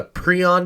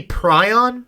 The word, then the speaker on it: prion: that's what it is maybe maybe prion have you heard of prion disease can be pronounced both ways Palace has mentioned it